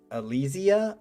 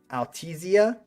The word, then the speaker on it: Altesia: Altesia, wait, how do you? The stress is on the E.